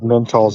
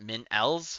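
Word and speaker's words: MintAls: we're doing that and you got it wrong they're called mentals in this world not mental oh yeah mentals mentals got get the cem names right I'll get you every time men LS well it's spelled m i n t and then there's a there's like uh you know a little space right there alss so what mint L's mint L's I think it's supposed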